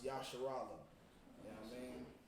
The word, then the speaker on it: Israel: Okay, so and that's pronounced Yasharala.